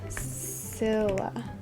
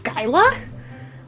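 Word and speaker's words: Scylla: up how to pronounce scilla skyla it's skyla well that's fun how to pronounce odysseus odysseus how to pronounce char char sharp dis charybdis kryptus so i was saying all of them wrong nice good thing i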